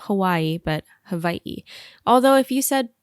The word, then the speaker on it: Hawaiʻi: previous episodes you've heard me say Hawaii as Hawaii but I wanted to address this I think a lot of locals still say Hawaii but the correct pronunciation is Hawaii and there's a little it looks like an